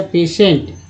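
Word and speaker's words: patient: रोगी या मरीज को बोलते हैं पेशेंट, ENT को एंट बोलते हैं, और TI से जो है श उच्चारण होता है, तो एक्चुअली पेशे हो गया पेशेंट।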